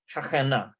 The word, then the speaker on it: שכנה: Shachena.